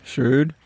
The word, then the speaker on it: shroud: Shroud? Yeah. It's okay. Like rhymes with rude. Yeah. Shroud rhymes with loud.